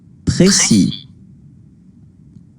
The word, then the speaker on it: précis: And how it is pronounced in French. Précis, précis, précis, précis. Okay, so you don't need to pronounce it this way, because people are going